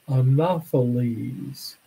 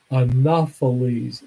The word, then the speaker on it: Anopheles: so the genus of that mosquito is called Anopheles Anopheles a in O th e le s a